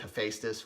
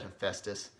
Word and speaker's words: Hephaestus: if that's like criminal same thing with Hephaestus whatever I said him Festus apparently that's not right either I think I